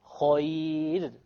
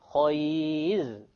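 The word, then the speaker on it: خير: And if it's a ya, then it will be light. Khayr. We don't say khayr. This is a very common mistake, by the way. Khayr. No. Khayr. Light, because there is a ya before it.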